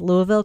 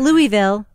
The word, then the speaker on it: Louisville: the way I pronounced Louisville correctly there did you I did you pronounced it wrong it's not Louisville it's Louisville Le I'm thinking about the